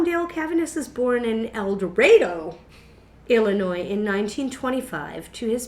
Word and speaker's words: El Dorado: a d o but Ryder has said that no one in that part of Illinois has ever ever once called El Dorado this is eloro eloro that's how they say it but you know what